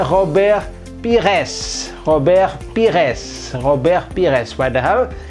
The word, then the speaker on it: Pires: terus SBY ujungnya dengan juga bunyi tapi sini Pires membuatnya gitu Robert Pires t dari si robeknya